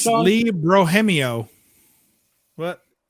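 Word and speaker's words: Bermejo: Lee Brohemio. What? I think it's pronounced Lee Brohemio. When I first started my channel, I used to call him Lee Bermanjo.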